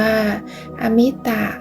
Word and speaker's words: อมิตะ: สิ่ง ที่ นับ ได้ หาก เติม อะ ไป ข้าง หน้า จะ อ่าน ว่า อมิตะ ซึ่ง แปล ว่า นับ